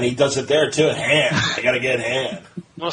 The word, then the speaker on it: Han: Well, it's like Han is hand. Han, I gotta help Han. Yeah. Well, they asked him why he said it that way, and he goes, "I mispronounced it."